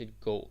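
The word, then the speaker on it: gå: walk at go and it's important that you pronounce It Go not go don't say at go that's very English right it's not go it's go make it shorter at go cool Billet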